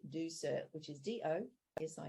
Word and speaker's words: Ducere: actually means to leave it's Latin and you simply say do sir which is d-o yes